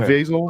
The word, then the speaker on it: Caviezel: Is that how you pronounce his name? Okay. Caviezel.